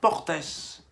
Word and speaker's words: Portes: la différence c'est que on ne prononce pas le S quand il s'agit d'un nom commun se terminant par E mais qu'on met au pluriel en revanche lorsqu'il s'agit d'un nom propre en prononce s voilà alors j'ai dit